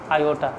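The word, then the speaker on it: iota: मान जाएगा, तो इसको स्पेशली नाम दिया गया आयोटा।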